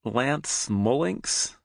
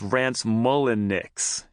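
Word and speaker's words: Rance Mulliniks: Lance Mullinks? The Kid asks, fishing out the 1986 baseball cards that inspired the trip. Jesse rolls his eyes. Jesus Christ, Kid, it's Rance Mullinix, he replies, dragging out each syllable.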